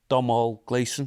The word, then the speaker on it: Domhnall Gleeson: It's got Domhnall Gleeson. Have I pronounced his name right?